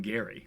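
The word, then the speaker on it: Gerry: called Gary mandering he he pronounced his last name Gary I actually did not know that hard G and this was 1811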